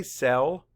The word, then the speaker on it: cell: Say cell. Map the sounds. S-E-L. Cell. Spell it. C-E-L-L.